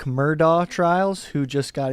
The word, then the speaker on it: Murdaugh: Simpson was kind enough to weigh in on the Alec Murdaugh trials, who just got Isn't it in Murdoch? Murdaugh. It's pronounced like 1,000 different ways.